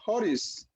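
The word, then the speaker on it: χωρίς: Inciso B, esto viene de una palabra griega que se pronuncia horis, es decir, que significa separadamente de la ley, ¿verdad?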